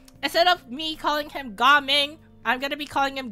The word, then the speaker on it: Gaming: then we have gaming I know it's spelled gaming but it's ging but for the sake of comedic purposes I'm going to call him gaming so uh yeah uh